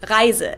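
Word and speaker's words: Reise: to give a couple examples this word is pronounced riser and it means journey or trip but when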